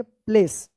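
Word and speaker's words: place: ए होगा और इस इ का कोई उच्चारण नहीं होगा। क्या पढ़ेंगे? प्लेस।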